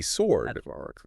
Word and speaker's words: sword: Sword. Oh, yeah. That W is so misleading. It is. We want to say sword, but it's sword.